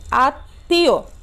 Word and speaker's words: আত্মীয়: তো তাহলে আমরা দেখি আ এর পরে ত মফলা সংযুক্ত আছে, তাহলে ত মফলা সংযুক্ত হলে এখানে মফলার উচ্চারণটা কিন্তু আসেনি, কিন্তু ত এর উচ্চারণটা কিন্তু এখানে কয়বার এসছে, দুইবার এসেছে, তাই না, দুইবার হয়েছে এবং এই শব্দটি কি হয়েছে, নাক দিয়ে উচ্চারিত হয়েছে, আত্মীয়, আত্মীয়।